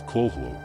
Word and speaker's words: Cthulhu: The Call of Cthulhu and Other Weird Stories, the first syllable of Chtulhu is pronounced gutturally and very thickly.